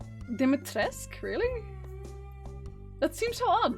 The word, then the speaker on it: Dimitrescu: Capcom says it's supposed to be pronounced Dimitrescu, really.